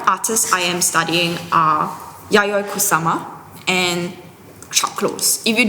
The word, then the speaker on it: Yayoi Kusama: Okay, if you do not know how to pronounce and spell her name, it's Yayoi Kusama.